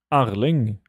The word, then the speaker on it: Erling: How do you pronounce Erling? Erling.